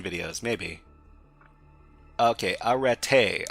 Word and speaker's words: Arete: Okay, arete. Arete, alright. A as in father, re as in short E, not re. Arete, emphasis on the last syllable. So this is arete or arati.